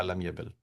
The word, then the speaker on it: لم يبل: This is how you'll pronounce it. You'll say la lam yabil.